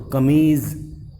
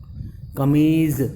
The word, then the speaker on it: कमीज़: कमीज सिंह है कमीज तो इसमें देखना बच्चों में जो क्रि के बिंदु दिख रही है तो इसका उच्चारण क्या है इस जज इंग्लिश के जेड की तरह हम उस इसका उच्चारण करेंगे तो कमीज कमीज कि